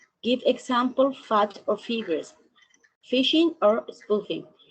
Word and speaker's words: phishing: Phishing, se pronuncia así, phishing.